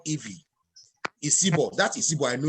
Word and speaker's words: Ivie: IVIE is called Ivy.